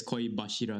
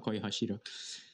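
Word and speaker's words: 恋柱: If you have a za, it can be pronounced za if it's combined with a certain... It's like Hashira? But if you say love Hashira, it's Koi Bashira, not Koi Hashira.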